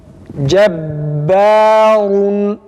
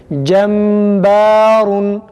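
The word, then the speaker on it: جبار: Cebbarun. Cebbarun. Tekrar. Cebbarun. Ba'da dikkat etmemiz gereken bir nokta gunnenin okunmamasıdır. Yani kesinlikle gunneli okunmaması gerekir. Mesela şu şekilde cembarun.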